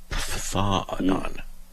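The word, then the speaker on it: φθόνος: It's a P-H-T-H sound. Phthanon.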